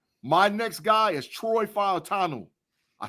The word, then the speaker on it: Fautanu: Now listen, so Tate, my next guy is Troy Fautanu.